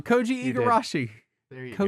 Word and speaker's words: Koji Igarashi: Uh which brings us to a topic at hand which is Ki Eigarashi. Co I said it wrong. Koji Eigarashi. There you go. Koji Igarashi.